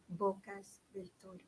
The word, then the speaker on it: Bocas del Toro: Bocas del Toro. Slowly. Bocas del Toro. Oh, you spell that.